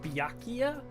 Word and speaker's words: Byakuya: to say his name, but what made the pronunciation click was like, oh, Byakugan! Like, the game! Like the anime game, Byakugan. So it just kind of stuck that I called him Byakugan for like the remainder of the playthrough because it helped me pronounce his name properly.